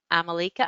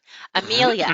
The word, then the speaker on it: Amelia: very homesick right now because she's been reading a couple of series based in, is it Amalika Island, Siesta Key? Siesta Key? Siesta Key. Amelia Island.